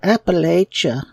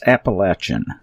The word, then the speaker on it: Appalachia: to get involved with the Appalachia and we despise that word that that pronunciation. It is so incorrect and it's so pretentious. It's Appalachin.